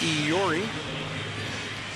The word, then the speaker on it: Eury: It's the way we pronounce it now, Eury, as instructed by the player earlier this season.